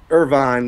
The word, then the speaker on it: Irvine: Irvine. Like Irvine, California.